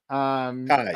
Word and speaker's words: Cayes: And did you say Kays or Kai? How do you say that? Oh, it's PrimeCayes. Kais. Okay, just gotcha.